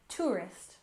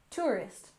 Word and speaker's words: tourist: and next we have tourist we stress the first syllable tourist tourist if you take a